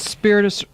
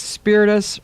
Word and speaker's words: Spiritus: Facebook what is that it's spiritus its spiritus Reiki Center but you have to spell it spi RIT capital u s Reiki could we like to say us yes yes me it's